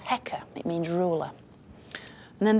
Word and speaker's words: Heka: It's basically a crook, a sceptre, and that's written with two symbols, and that's pronounced Heka.